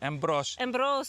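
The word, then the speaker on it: Εμπρός: How do you say embros. Embros.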